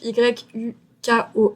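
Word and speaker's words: HYUKOH: Le nom du groupe donc c'est un groupe qui le nom du groupe vient du nom du chanteur principal qui s'appelle Ouk. Donc quand on inverse les deux syllabes ça fait Yuko.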